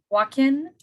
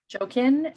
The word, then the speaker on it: Jachin: We did listen to a bunch of pronunciations online, and then our teacher, my specific teacher, calls it Joaquin, but it's Jachin, but I'm sure there's other spellings.